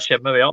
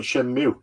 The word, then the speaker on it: Shenmue: The thing is, though, the other half of people will call it Shenmue, and when they actually finally say it in game, which is right at the end of Shenmue 2, they say Shenmue. That blew my mind. Because no one says Shenmue.